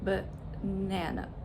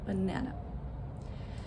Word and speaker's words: banana: The first syllable and the third syllable are unstressed and they have the schwa sound, but, and it's so quick, banana, banana.